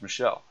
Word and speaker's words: Michel: Last name is pronounced Michel.